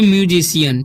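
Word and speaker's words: musician: यहाँ पर सी के बाद ई है तो सी का उच्चारण स हो रहा है, ठीक है। यहाँ पर लिखा है म्यूजिशियन, ठीक है।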